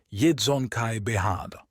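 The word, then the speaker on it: Yesügei Baghatur: genau ausgesprochen werden kann er klang ungefähr so jedon Kai behada der Name so wie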